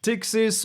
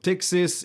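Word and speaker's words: Ptyxis: You also have a new terminal app called Pixis or Tixis if you don't want to pronounce the P at the beginning.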